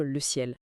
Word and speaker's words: CIEL: Et petite précision importante pour commencer, l'acronyme s'écrit C i E, mais ça se prononce tout simplement comme le ciel. Le ciel bleu au-dessus de nos têtes.